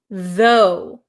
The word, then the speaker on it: though: is a good one so the first word you have is though though so there's no R sound right though you have a strong th sound the the so it